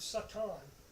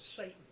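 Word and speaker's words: שטן: every other language in the world the word Satan that's how it's pronounced in Hebrew uh in English you would recognize it as the word Satan the word Satan is a neutral word and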